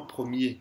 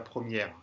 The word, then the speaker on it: premier: Alors, c'est sur le mot premier, c'est vraiment premier, c'est pas première, premier.